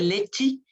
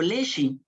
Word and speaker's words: leche: Leche, que la gente la articula, la produce lechi o leshi, ¿no?